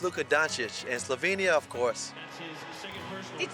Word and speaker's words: Luka Dončić: I had no problem saying Luka Doncic. Some people say Luka Doncic. No, it's Luka Doncic.